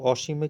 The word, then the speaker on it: অসীম: এখানে একটা নিয়ম আছে অ ধ্বনি নাবোধক অর্থে ব্যবহৃত হলে অ এর উচ্চারণ বিবৃত হবে অর্থাৎ অ এর উচ্চারণটা